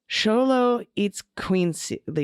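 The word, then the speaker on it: Xoloitzcuintli: guttural h okay but in words of indigenous Mexican origin like this one X is often pronounced more like the English S8 Z in Spanish and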